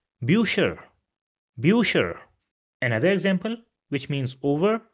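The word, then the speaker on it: Bücher: So it has the pronunciation of u. So we have this word over here which means books and it will be pronounced as birer bucher.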